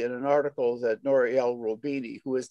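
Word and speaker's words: Roubini: Exactly what you said was really in an article that Noriel Robini, who is not a leftist, he's a main, Robini, you probably know him personally, don't you?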